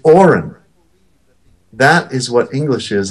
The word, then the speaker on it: orin: It's a purposely low vibrating sound. It's orin.